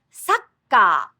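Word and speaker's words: サッカー: For example, the game of soccer has a little pause on the double K.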